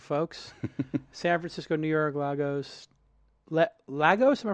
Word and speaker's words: Lagos: San Francisco, New York, Lagos. Lagos? Am I pronouncing it?